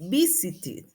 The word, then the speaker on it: visited: Por ejemplo, visit termina en T y la pronunciación ED va a ir como it, visited, visited.